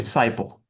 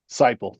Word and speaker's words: Cyple: can you hear me? Okay. Um, yes, I can. Thank you. Is that the correct pronunciation of your last name, sir? Uh, it's actually Cyple. Cyple.